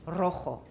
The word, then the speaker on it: rojo: A trill is written with a double R, and also if a word starts with a single R in Spanish, that is also a trill. So for example, red is rojo.